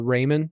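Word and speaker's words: Reiman: said it's Raymond or Ryman how do you say it uh his family and I we'd have always called it uh Raymond tip okay we'll just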